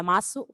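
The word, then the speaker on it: ます: or delete ru and replace it with masu or mas, because you can drop the u sound at the end to sound like a native.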